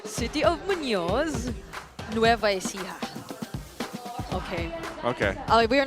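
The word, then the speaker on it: Muñoz: watch party at Bangai Brazal Science City of Munos.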